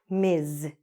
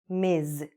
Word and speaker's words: Ms: a third one and it's written ms but it's pronounced like this miz say it after me miz okay that one is